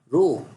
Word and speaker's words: rho: come dear that constant we pronounce this as if throw it as a row so I equal to